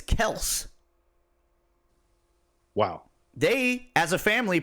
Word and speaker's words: Kelce: Travis Kelce, their last name is Kels. Wow. They, as a family, pronounce it Kels.